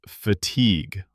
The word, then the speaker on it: fatigue: Let's spell that for our listeners because the pronunciation is tricky. F A T I gu. Right. It's not fatigue. It's fatigue. Like league.